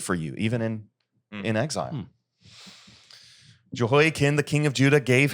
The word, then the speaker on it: Jehoiachin: And Jehoiachin, I'll adopt the correct pronunciation there, Jehoiachin, the king of Judah, gave himself up to the king of Babylon.